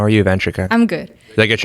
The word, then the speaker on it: Vanshika: How are you, Vanchika? I'm good. Did I get your name right? Yes, you did. Nailed it. Vanchika. No stressed syllables.